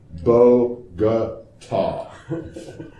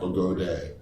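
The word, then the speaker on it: Bogotá: So Bogota is pronounced Bogota. Yeah, Bogota, Bogota, not Bogode, is not long A, as in lame brain.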